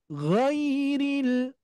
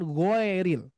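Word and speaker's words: غَيْرِ: gho gho beda ya maka ini diucapkan ghairil ghairil dan hati-hati seringkiali terdengar geril Nah hati-hati ya geril bukan GO tapi Gi gi karena di sini huruf ya yang kita baca ya Nah cuman seringkiali kita mendengar giril ya oke maka diucapkannya atau dilafalkannya seperti ini giril huruf huruf lam sama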